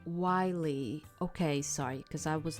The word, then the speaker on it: Wiley: Okay, so it's Wiley. Okay, sorry, because I was like, I didn't know how to say it. Wiley.